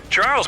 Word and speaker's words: Charles: Pronounced Messier, not Messier, as in, is your room messier than mine? Charles Messier to be precise, was a French astronomer in the 18th century.